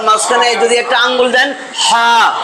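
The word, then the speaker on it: ح: মাঝখানে হা গলার মাঝখানে যদি একটা আঙ্গুল দেন হা এ এটার একটা সিস্টেম আছে পরে পারবেন এখন এটা উচ্চারণ হবে এইখান থেকে হা একটু জোর দিয়া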